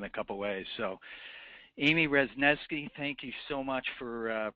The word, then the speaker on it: Wrzesniewski: And the mnemonic that I use is, I had an uncle who used to call me Pesky Wrzesniewski. So it rhymes with pesky, if that helps.